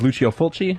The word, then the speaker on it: Lucio Fulci: You did mention the Italian release of Dawn of the Dead, and I do know that I believe the pronunciation of his name is Lucio Fulci, if I'm not mistaken.